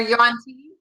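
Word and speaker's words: yuan-ti: They're yuan tea.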